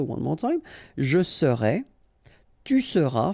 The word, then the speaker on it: tu seras: Je serai, tu seras, final S not pronounced, il sera, elle sera,